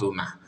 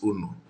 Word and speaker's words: unu: that language is actually the way we pronounce it in Igbo, not Una. Una is when you want to speak pidgin English. Una people, you understand? But the real Igbo word for that is Unu.